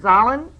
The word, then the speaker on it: Zahlen: The reason it's called Z is actually, and I'm going to mispronounce the word, Zahlen.